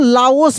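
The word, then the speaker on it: Laos: लेकिन अगर वहीं पे लिखा रहता है एल ए ओ एस तब इसको हम लोग लाओस पढ़ेंगे।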